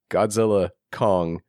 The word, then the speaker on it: Godzilla x Kong: the X dude uh you don't pronounce the X the studio officially came out and said you don't pronounce the X it's like God the